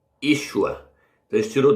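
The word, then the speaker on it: ישוע: Esse nome aqui, sem sinal massorete, se pronuncia Yeshua. Aliás, é Yeshua.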